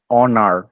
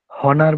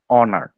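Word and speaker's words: honor: না হেয়ার বলছি না হনার বলতেছি না আমরা কিন্তু বলতে অনার ওকে এখানে কিন্তু এইচ এর উচ্চারণটা হ এর মতন হচ্ছে না অ ব্যতীত অ এর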